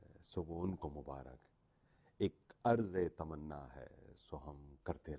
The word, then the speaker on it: عرض: جی ہاں، آج کا جو لفظ ہے وہ ہے عرض، جو کہ عین سے لکھا جاتا ہے اور رے اور زوات، رے پہ سکون ہوتا ہے.